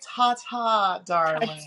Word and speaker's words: Ta Ta Darling: How do we pronounce it? I love it. It's actually tata darling.